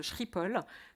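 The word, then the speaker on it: Schiphol: la photo que vous voyez c'est l'aéroport de shrippol donc c'est Patrick qui m'a appris la prononciation exacte de shrippol ce matin donc et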